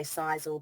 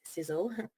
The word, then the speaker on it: Sisel: So Tom Senior came up with that acronym, and people say Sisel, but it's pronounced Sizzle.